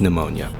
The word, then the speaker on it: pneumonia: phia she's diseased with pneumonia but it has a p so I always end up pronouncing it when I'm reading it